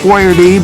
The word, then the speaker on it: Boiardi: So when he, on the can, he put it BOY-AR-DEE.